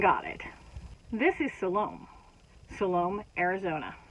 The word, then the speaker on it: Salome: it this is Salome Salome Arizona spelled the same pronounced different which I found out